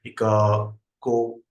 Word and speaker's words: Iakovoglou: Iakovoglou. It's difficult for me to pronounce.